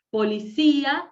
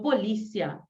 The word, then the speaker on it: policía: Por ejemplo, policía, alergia, magia y no magía, alergia y no alergía, ¿sí? Policía y no policia.